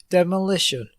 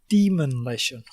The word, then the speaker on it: demolition: interrupt you, but he doesn't actually say demolition. He says demonition, does he really?